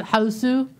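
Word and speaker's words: Hausu: So kind of like with the stuff you'd see in Houseu. I didn't want to watch that. It's a really old, weird Japanese horror movie called House, but they pronounce it Houseu.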